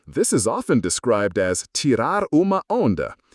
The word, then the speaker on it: tirar uma onda: In Brazil, this is often described as tirar uma onda, pronounced tirar uma onda, literally to take a wave.